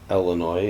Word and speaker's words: Illinois: March 17th we have Illinois or Illinois as a lot of locals call it or Alan why if you want to pronounce it in French that's French without a